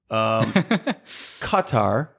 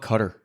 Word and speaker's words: Qatar: Qatar. That's how you pronounce it in Arabic. I was just about to say it that way. Yeah. But Americans just call it Qatar.